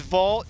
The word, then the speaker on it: Vogt: Oakland Athletics NBA referee right here Steve is Vault the only guy with a silent te in